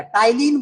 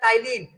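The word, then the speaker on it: ptyalin: इसमें P silent रहेगा टाइलिन बोला जाएगा टी वाई एल आई एन टाइन टाइलिन पी साइलेंट रहेगा यहां पे इसको बोलते है टाइलिन इसी को बोलते है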